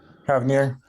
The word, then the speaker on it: Havner: Did I pronounce that right? Havner. Havner, okay.